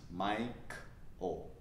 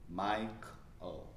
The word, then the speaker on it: Michael: It's pronounced Mike-O. Mike-O.